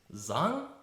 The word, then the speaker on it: Zhang: from the past and you said it's actually pronounced song your last name though yeah that's so right proper way to say in Chinese right are you Chinese